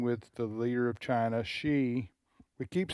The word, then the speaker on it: Xi: But one is President Trump is meeting with the leader of China, Xi. We keep saying Xi. It's X-I. That's the way you pronounce it.